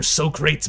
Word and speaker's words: Socrates: her pronunciation of Socrates, which she had, of course, said like an imbecile, describing something else as being very much in the manner of wooden boxes. So very crates indeed, rather than as the glorious 3-syllable name.